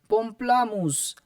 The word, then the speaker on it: pamplemousse: The correct pronunciation is pamplemousse.